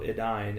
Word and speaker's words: Edain: right where it says AI has the sound of English I thus the second syllable of Adine is like English dine not d there you go my